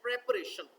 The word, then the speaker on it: preparation: प्रिपेयर इसका जो है वो वर्ब है, लेकिन आप देखें प्रोनाउंसिएशन में जो है फ़र्क है। जो वर्ब है उसको हम पढ़ते हैं प्रीपेयर, बट जो नाउन है उसको हमने पढ़ना है प्रेपरेशन।